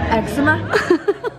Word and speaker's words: eczema: that's why you say eczema. And I was like, how do you say it? And everyone was just like, eczema. Eczema. You say it like it's an egg dish, like eczema.